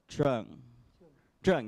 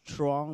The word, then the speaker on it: Trung: So, Trung, yes, correct, right? I initially thought it was actually Trong, but then mispronunciation going on over there.